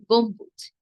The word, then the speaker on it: গম্বুজ: এই চারটি বর্ণের সঙ্গে যখনই দেখবেন ব যুক্ত আছে তখনই কিন্তু বয়ের উচ্চারণটি করবেন।